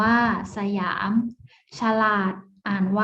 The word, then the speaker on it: สยาม: อ่าน ว่า ปะ หรั่ง Siam อ่าน ว่า สยาม ฉลาด อ่าน ว่า ฉลาด